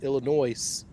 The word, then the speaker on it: Illinois: down to nine seed Illinois uh would make it out of there. And I do pronounce the S in Illinois cuz they stole Lincoln.